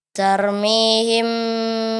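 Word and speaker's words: ترميهم: Iya, kemudian huruf ra, ya seperti kita jelaskan, kalau dia sebelum huruf ra yang sukun ini ada huruf yang berbaris fathah, maka ditebalkan. Tarmihim, ya cara membacanya seperti itu.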